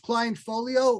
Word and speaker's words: clientfol.io: Is it pronounced client folio or?